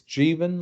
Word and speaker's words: Jeevan: How do you say your It's Jeevan, like Stephen. Jeevan is the first name.